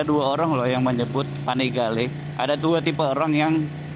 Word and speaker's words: Panigale: itu adalah Ya udah panigale karena penyebutan panigale itu ternyata dalam bahasa Itali guys kalau dalam bahasa Itali tulisan panigale itu ya dibacanya panigale gitu Tapi kalau dalam bahasa Inggris itu disebutnya panigel panigel panigel asak Maaf itunya